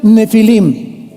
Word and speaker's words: Nefilim: Esas palabras, si tienes tu Biblia donde dice gigantes, ponle nepilim con ph. Nepilim se pronuncia nefilim y significa caídos.